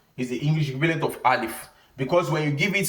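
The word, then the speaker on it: ألف: i al if so the English equivalent of alif is something like father when you say father for example is the English equivalent of al if because when you give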